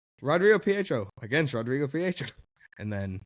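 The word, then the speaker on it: Rodrigo Prieto: But Rodrigo Pietro, that's how you say it.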